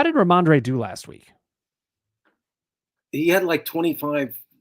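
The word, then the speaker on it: Rhamondre: Ramondre. Ramondre, to me, will get 25 handoffs tonight for the Patriots.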